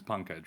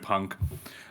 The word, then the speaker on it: Pankaj: right so my name my actual name is punkhead right um but I like to it's a little difficult for people to pronounce I had to joke that my friends